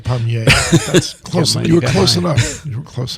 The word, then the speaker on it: Despommier: So Mike writes, Dear Doctors Racaniello, Despommier, and Griffin. Did I pronounce this correctly, guys? All right. Despommier.